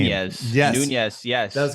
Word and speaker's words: Nunes: Nunez.